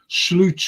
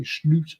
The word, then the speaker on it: Slot: to be honest when slute took over that's how you pronounce his name by the way slute slute the point is I thought